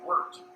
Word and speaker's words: wort: It's pronounced wort, W-E-R-T, but it's spelled wort, W-O-R-T.